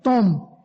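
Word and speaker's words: תהום: Esta palabra es una palabra griega que se escribe T-H-O-M, tom, y significa aguas o depósitos subterráneos.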